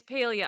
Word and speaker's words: Palia: It's Palia. I looked at yes. Yeah, I've been saying it wrong. I've been calling it Palia because I thought of Pal World.